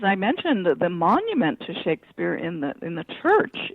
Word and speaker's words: Shakespeare: documents of the period the name was pronounced Shakespeare um with a short a.